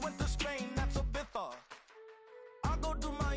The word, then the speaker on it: Ibiza: I just went to Spain, that's a bitha. Ibiza. Yeah, it's pronounced Ibiza, actually. What's the difference, man? Ibiza, Ibiza, you won't see me in neither.